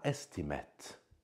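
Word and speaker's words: estimate: حدودی هم میده و استیمت اون قبلی بچه‌ها گفتم منو دست کم میگیری اونجا استیمیت تلفظ میشد فعله اینجا استیمت اسمه اون استیمت این استمت یعنی یه تخمین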